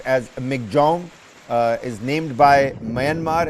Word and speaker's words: Michaung: pronounce it uh is supposedly supposed to be pronounced as MC Jong uh is named by Myanmar and means strength